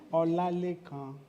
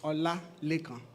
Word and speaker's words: Olalekan: Ola, you break it into 2. Olalekan.